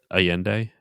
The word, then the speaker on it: Allende: allende oh yeah critical allende is how they pronounce it allende yeah okay you could do one on all